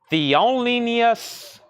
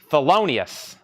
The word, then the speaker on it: Thelonious: Theolinius Monk.